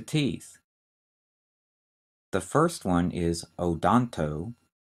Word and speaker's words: odonto: that relate to teeth the first one is odonto o d o n t o and the